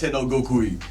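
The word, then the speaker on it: 身勝手の極意: Migate no Goku.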